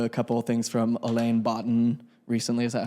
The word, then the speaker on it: Alain de Botton: I've listened to a couple of things from Alain Botton recently. Is that how you say his name? Yeah, Alain de Botton.